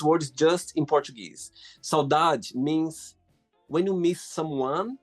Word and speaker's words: saudade: Saudade. Saudade, yeah.